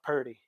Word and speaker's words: Purdy: It's Brock Purdy. Purdy. Like almost. Almost Purdy, but Purdy, yeah. Purdy. At least that's how I understand it. I can't read. Well, I don't know. We'll just go with it's Purdy.